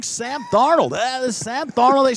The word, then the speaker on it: Darnold: But talking about Sam Darnold, that's 2 syllables in the last name, but there's Sam starts it.